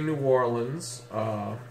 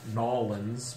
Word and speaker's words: New Orleans: number nine is New Orleans and we say New Orleans a lot of folks tried to sound colloquial by saying nollans but actually no one in New Orleans says